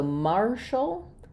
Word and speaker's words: martial: So Marshall um has the letters a r saying the r sound. So I just would rewrite that again with a r mar. And then here's a case where ti has the sh sound and the letter a